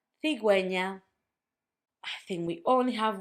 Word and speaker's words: cigüeña: Pingüino, cigüeña. That's if you want for the U to have a sound when you have gegi.